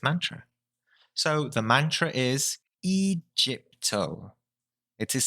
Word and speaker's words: EGIPTO: So the mantra is EGIPTO. It is spelt EGIPTO, literally, but actually it is pronounced EGIPTO. So the G is actually pronounced as H.